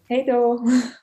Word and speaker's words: Hej då: Hej då.